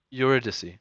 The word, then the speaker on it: Eurydice: to the table Paradise how do you say your name you're at a seed eurydice I'm I have a